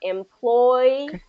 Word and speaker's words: employee: Employee. Employee. There you go. Good. Employee. Okay. Yeah, that's it. Okay, so make sure you have those two kind of Y sounds in there.